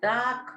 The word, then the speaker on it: dark: It was a dark night. Dark. R is silent over here.